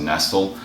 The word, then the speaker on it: Nestle: eat by Maran Nestle it looks like Nestle the candy bar but it's actually pronounced nestal uh one of the